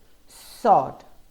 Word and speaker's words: sword: realize in words like two sword answer you don't hear the w at all well there you have